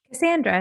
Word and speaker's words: Cassandra: Cassandra, it's perfect.